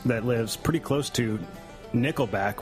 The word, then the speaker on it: Nickelback: And for those that don't know, Sarah Henry is a Canadian friend of ours that lives pretty close to Nickelback, which rhymes with stickleback.